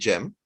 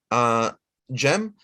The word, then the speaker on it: Cem: Bayezid II was able to get to Constantinople first, but his younger brother, Shahzade Cem, in Turkish, the C is pronounced as a J, right?